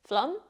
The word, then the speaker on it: flummox: process flu now let's look at flu it's pronounced flum and it's a verb this means to be